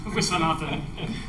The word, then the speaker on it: Viswanathan: Is the general rule emphasis on the second syllable? Yes.